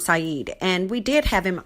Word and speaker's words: Saeed: The name of the author is Hossam Saeed, and we did have him on a few weeks back, maybe about a month or so ago.